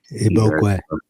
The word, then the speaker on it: Igbokwe: Igbokwe.